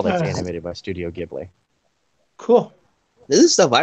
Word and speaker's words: Ghibli: Studio Gib Giblin or Gibby or however you want to pronounce it. Ghibli.